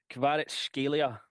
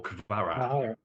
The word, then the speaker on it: Kvaratskhelia: here's my pronunciation. Kvaratskhelia. Kvaratskhelia or Kvara.